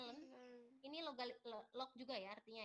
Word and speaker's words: ln: Oke, jadi nanti kalau kalian ketemu bahasa len ini kita baca LN ini, LN, bacanya len.